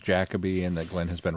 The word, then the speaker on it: Jacobi: Finding out that his name is pronounced Jacobi and that Glenn has been right all this time, that's not one of the things that I about this set.